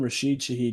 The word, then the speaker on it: Rashid Shaheed: Rashid Shaheed, yeah.